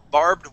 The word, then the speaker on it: barbed: First off, this word at the very top is barbed. Barbed wire. Barbed wire. Try that. Barbed wire. Okay, we're going to say barb. Barbed. Barred. Barbed wire.